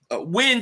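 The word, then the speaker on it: Nguyen: JM Barov says Nigen is pronounced win.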